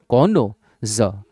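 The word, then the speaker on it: connoisseur: सीओ डल एन ओ कोनो ज जर कोनो जर I double S ई यू are pronunciation मैंने दे रखा है कनज आर साइलेंट होता है और प्रोफिस तो ये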